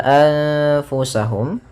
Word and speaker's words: أنفسهم: Kemudian pada lafal anfusahum, yaitu di sini ada bacaan ikhfa, yaitu ditandai dengan nun sukun bertemu dengan fa. Cara membacanya yaitu nunnya disamarkan kepada huruf fa, seperti itu sambil ditahan gunnahnya.